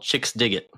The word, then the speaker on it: Chixdiggit: I'd never seen before called Chicks Dig It. Nice. And it's spelled CHIXDIGGIT.